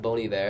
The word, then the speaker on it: Bon Iver: and think that's what it is but it's pronounced bony there I think if I know correct I know